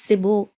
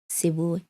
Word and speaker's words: Seboe: I'm like, guys, however you want to pronounce it. Yeah. I'll just stick with it. It's Seboe. Yeah. Seboe.